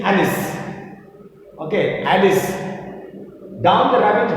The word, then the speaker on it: Alice: about alice about alice some say allies but then better one and proper pronunciation is alice okay alice down the